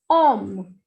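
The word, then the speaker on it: homme: The word is H-O-M-M-E and pronunciation will be om. Om. H will not be pronounced and the meaning is man.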